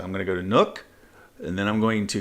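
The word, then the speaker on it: Nuuk: visiting the capital Nook it's not nuke I learned that the last time I was there it's actually two syllables so I'm going to go to Nook and then I'm going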